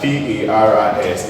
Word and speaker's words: Paris: S is silent in L-O-U-I-S, which is called Louis. Sometimes we have P-A-R-I-S.